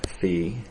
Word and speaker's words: phi: a little bit tragically they use the greek letter phi pronounced fee um and i say